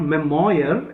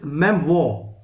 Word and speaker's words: memoir: you pronounce this word it is not memoir it is memoir reservoir repertoire you know is pronounced like this okay memoir uh a movable